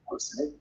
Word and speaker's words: Gosse: Yes, tell us your name, how you pronounce it. Okay. So my name is Gosse Mhm.